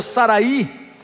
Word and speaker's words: Sarai: Sarai, a sua esposa, ou Saraí, em uma outra pronúncia, mas com a mesma escrita, que significava minha princesa, algo relativo ao papai e à mamãe, né?